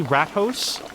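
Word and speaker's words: Rathaus: rat in Dutch so is it it's actually rat hos cuz there's like a mouse fonger and like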